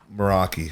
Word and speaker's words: Meraki: and and make sure I'm saying it right moroi yep that's that's a great name moroi appreciate that man it's actually a Greek word